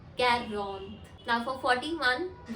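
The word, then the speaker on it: quarante: यू the next number which is 40 is pronounced as Karen char if यू सी we have N ई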